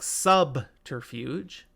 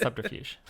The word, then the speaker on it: subterfuge: that word subterfuge subterfuge you say the b in that one but not like subterfuge yeah like you don't